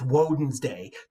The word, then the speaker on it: Wednesday: Wednesday you ever wonder why Wednesday is spelled so weird yeah it's because it's wen's day w o d NS d a y why is that weird n in Wednesday because originally it was wen's day of course wen's day